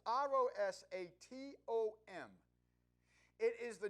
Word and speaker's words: Rosatom: And I may not be pronouncing that right. It's Rosatom.